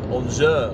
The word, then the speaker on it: Angers: Chociaż nie, mówi się Lille, bo dowiedziałem się niedawno, że na przykład taki zespół, który pisze się Angers po francusku, Francuzi mówią Angers, oh my gosh.